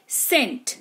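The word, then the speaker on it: scent: सबसे पहला है सेंट देखिए यहां पर एस सी ई एन टी लिखा हुआ है इसको सेंट पढ़ेंगे ना कि सेंट पढ़ेंगे राइट आपने कभी ध्यान दिया है कि सी का उच्चारण होता तो दो दो बार स लगाते तो स सेंट बोलते नहीं बोलते हैं ना सेंट बोलते हैं जिसका मतलब होता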